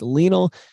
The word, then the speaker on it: Lionel: I want to say Lionel, but it's not like Lionel Hutz, attorney at law. It's Lionel Messi.